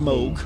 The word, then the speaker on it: Moog: with Mo uh the Moog the Moog it's pronounced Moog and gave extensive technical advice on what became